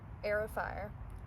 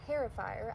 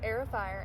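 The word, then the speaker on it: Heir of Fire: And I'm currently reading Aerofire, not Herofire. I pronounced it that way last time and you guys were like, "What are you talking about?" But yes, Air of Fire and this series is amazing.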